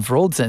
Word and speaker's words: Wroldsen: So Wroldsen, actually, yes, it's a Norwegian name, Wroldsen. It's spelled with a W, pronounced with a V.